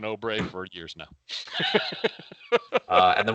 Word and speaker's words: Oubre: Okay, mispronounced names. We had an Oubre from Ken instead of Oubre.